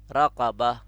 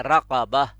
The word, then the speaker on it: رقبة: جیسے اوپر ہمارے پاس ہے ایک رقبتن جو قینچی والی یا دو نقطوں والی بڑی قاف کے ساتھ ہے. رقبتن، اب آپ تلفظ نوٹ کریں، وہ ہے رقبہ.